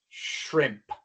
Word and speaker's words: shrimp: Esta palabra comienza con shr y aunque tree comienza con tr, ya hemos visto que esa T se pronuncia como ch. La sh y la ch son muy parecidas. La diferencia es que al pronunciar la sh se sostiene un poco más el sonido.